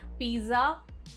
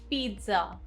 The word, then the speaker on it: pizza: Not pizza, pizza.